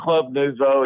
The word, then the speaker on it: Club Nouveau: It's Club Nuevo or Nuvo. I don't even know how to say it. Nouveau. Oh, Club Nouveau.